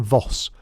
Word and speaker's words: Voss: "Ellen Voss, pronunciation Voss, like boss with a V.